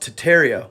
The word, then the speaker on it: Tartaria: Tartaria, originally pronounced Titaria without the R, is the name of an empire that was here before the Mongols and originated in Northern Asia.